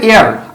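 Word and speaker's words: heir: আচ্ছা, একইভাবে এয়ার আমি যদি বলি যে হি left dash এয়ার of this property.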